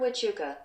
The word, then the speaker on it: Huachuca: Fort Huachuca. No way! There's a silent H in it.